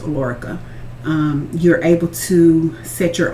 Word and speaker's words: Alorica: Okay, so with the one that I'm actually with now, the Alorica is what it's pronounced, Alorica.